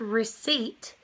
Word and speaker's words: receipt: so in the word receipt E I come together to make one sound and the sound is e like re seat receipt and so that is silent which is why there's